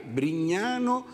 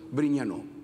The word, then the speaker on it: Brignano: sul cognome, vi prego, al cognome Brignano con la O, attenzione all'accento, perché se no c'è accento acuto, che la lingua italiana non permette errori, c'è accento acuto e accento grave. Brignano e accento grave con l'acuto sarebbe tronco, sarebbe stato Brignano, che non è più un cognome, ma è il passato